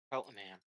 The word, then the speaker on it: Cheltenham: We are home to Cheltenham. That's how I'm you pronounce I'm it.